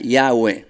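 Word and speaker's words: Yahweh: dos que se repiten y h w h que se pronuncia y agua muchos dicen sí bueno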